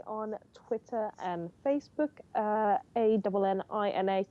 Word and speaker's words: Annina: myself burn called me I called you a Nina yes pronounced it correctly was the the the